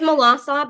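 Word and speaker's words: Melançon: This is Melancon. That's how you pronounce it? Yeah, that's fine. Okay. It's Melassa, but is good.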